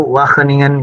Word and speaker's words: Wageningen: saat ini sedang menempuh pendidikan Master di Wageningen bacanya itu Wageningen University jadi gini menjadi Hai JG Dewa keningan